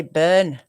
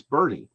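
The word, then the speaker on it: Burnet: a city in texas i'd probably just say burn you're almost you actually are very close it's bernie bernie oh yeah i should have said bernie so but here's the thing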